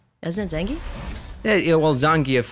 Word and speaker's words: Zangief: dick what what is zangeff game isn't it yeah yeah well zangief would be the correct pronunciation oh but zan gave works for player two like my win streak